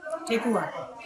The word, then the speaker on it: Thekua: Thekua. Tekua.